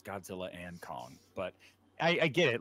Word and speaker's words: Godzilla x Kong: X Kong the new Empire it's pronounced it's pronounced Godzilla and Kong it is Godzilla and Kong is what it's called and people are still